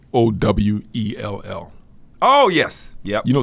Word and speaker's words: Sowell: S-O-E. How you say it? Sowell.